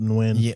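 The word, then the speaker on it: Nguyen: That's spelled that's pronounced win when Tyler win 1956.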